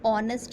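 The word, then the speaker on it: honest: start हो रही है लेकिन जब हम बोलते हैं तो ऑनेस्ट बोलते हैं हॉर्न जस्ट नहीं बोलते तो इंच का साउंड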